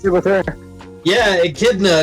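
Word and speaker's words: Echidna: Akidna. It's the same as the animal.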